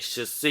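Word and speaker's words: 出穂: 出穂って書いて出穂って読むんですけど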